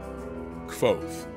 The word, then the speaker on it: Kvothe: I also like to hear your thoughts about Kvothe. Do you love him? Do you hate him? Comment down below, and see you next time. Kvothe.